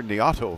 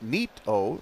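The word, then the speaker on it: Neato: You say here, Niato Robotics, or we would know it as Nito, because it's spelled easily that way, N-E-A-T-O, like Nito, like we would say in our slang is, oh, Nito. Nito, absolutely. Nito Robotics.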